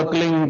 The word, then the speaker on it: क्लीं: एक शब्द क्लींग शब्द क्या आधा ला में मिला हुआ, बड़ी की मात्रा और बिंदी, उसका उच्चारण होगा क्लींग गा, गा की ध्वनि निकलेगी पीछे।